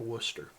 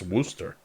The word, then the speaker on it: Worcester: There is a town in Massachusetts that's spelled Wooershire and it's called Worcester. Yeah. I was going to say, isn't that like a Scottish term? I saw somebody, they're like, "It's Worster."